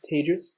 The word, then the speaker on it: Tejas: My name is Tejas. That's pronounced like contagious, unfortunately, in the pandemic, and I'm really excited to be here.